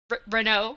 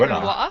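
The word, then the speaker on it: Renoux: They sent me an email to correct my French pronunciation of Renault. Renault, which his name is Renault, which I had been pronouncing Renoir.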